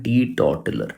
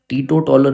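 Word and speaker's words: teetotaler: जो छूता तक नहीं है उसे हम बोलते हैं टी टॉटलर। ठीक है? अब देखो टी टॉलर टीटो टॉलर नहीं होता। टी टॉटलर होता है जिसकी स्पेलिंग आपकी यह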